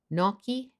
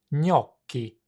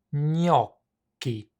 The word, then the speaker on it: gnocchi: Most English speakers pronounce gnocchi in one of two ways: gnocchi in the UK or gnocchi in the US. Here's how you would pronounce it in Italian. gnocchi, gnocchi.